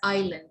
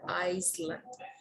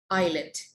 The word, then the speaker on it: island: they are mispronouncing them it's island it's not an iceland that is a silent it's a island all right what about